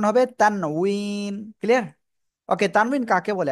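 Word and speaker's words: تنوين: ইনশাল্লাহ এখন তারপরে যাচ্ছি তানভুইন তানুইন আর বাংলায় উচ্চারণ অনেকে বলে তানবিন অনেকে বলে তানভীন অনেক কিছু বলে হ্যাঁ কিন্তু আসল উচ্চারণ হবে তানুইন ক্লিয়ার ওকে তানভীন কাকে বলে আসলে দুই জবর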